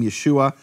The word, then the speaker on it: Yeshua: question from any serious scholarship about how to pronounce that name, Yeshua, no question whatsoever.